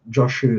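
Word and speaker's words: Jōshū: Chaou is sorry, Zazu is referred as Chau pronounced Joshu in Japanese.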